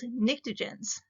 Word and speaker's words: pnictogen: Group 5A is called pnictogens. The P is silent. To me, pnictogen sounds a lot like nitrogen, which is the first element in that group.